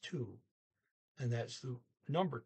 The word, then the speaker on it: to: she says is 2, which is spelled T-O, and O is primarily pronounced like a double O, ooh, like in T-O-O, 2. Okay, so they just spelled it T-O. It's pronounced 2, and that's the number 2.